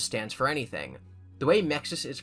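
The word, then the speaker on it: MXES: Um it's called Mexis. I don't think Mexus stands for anything. The way Mexus is pronounced sounds like mixie, which is a shorthand way of saying mixtosis.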